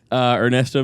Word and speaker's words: Ernesto: So my name's Ernesto. I'm part of the CoolSpeak family. You didn't roll your R when you said his name.